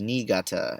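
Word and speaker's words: Niigata: city to South Korea and it is called nigata you would spell it n-i-i-g-a-t-a um in English um so I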